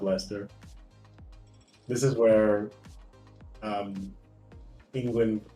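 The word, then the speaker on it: Leicester: Pronounce it Lester. No, it's Lchester. I like Lester though. You know, I have a buddy named Lester. It is pronounced Lester.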